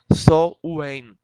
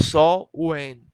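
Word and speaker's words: Samhain: Se pronuncia dessa forma, mas se escreve S-A-M-H-I-N. Quem quiser pesquisar, se escreve assim: S-A-M-H-A-I-N. Mas se pronuncia como Sol-Wen.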